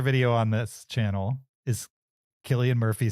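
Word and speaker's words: Cillian: were Saints um originally and um and it's pronounced Killian okay but what what about the last name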